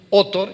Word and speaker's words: Autor: Acemoglu, y hay un autor que curiosamente se apellida Otor y se escribe autor.